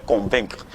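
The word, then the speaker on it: convaincs: allons conjuguer le verbe convaincre au présent simple de l'indicatif. Il y a des gens qui disent voilà. Donc je convainc, il y a le CS qui ne se prononce pas pour le je convainc,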